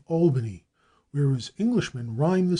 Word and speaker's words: Albany: a footnote curiously enough Americans always use the broad a in the first syllable of Albany whereas Englishman rime the